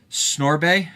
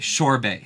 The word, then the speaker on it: sorbet: What's that? Snorbet? Oh, Sorbet is how I'm supposed to pronounce it.